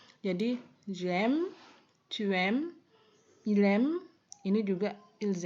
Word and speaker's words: aimes: dan il, elle jamak, pengucapannya adalah sama. M. Akhirannya ini tidak boleh diucapkan sama sekali, ya. Jadi j'aime, tu aimes, il aime, ini juga ils aiment.